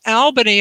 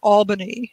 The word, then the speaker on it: Albany: And yes, it's pronounced Albany and not Albany.